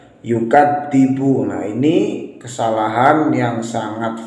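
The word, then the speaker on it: يُكَذِّبُ: ara'aital ladzi yukadzibu biddin, yang mana huruf dzal di sini seringkali diganti dengan huruf dal, yukadzibu. Nah, ini kesalahan yang sangat fatal. Mengapa? Karena merubah huruf dzal menjadi huruf dal. Harusnya yukadzibu, yukadzibu, bukan yukadzibu.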